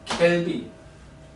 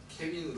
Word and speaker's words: 켈빈: 켈빈. 빈 이렇게 되나? 케빈으로 들리지 왜? 케빈. 켈빈이에요.